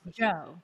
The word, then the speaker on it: DJO: artist name is spelled DJ o but it's pronounced Joe correct okay so where did the inspiration for